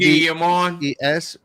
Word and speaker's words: Yves: And this is a shift from and Ubisoft CEO Ives? I don't know how to say his name. Guillemot. Y-V-E-S Guillemot.